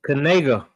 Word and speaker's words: Knigga: How you say it again? It's Knigga.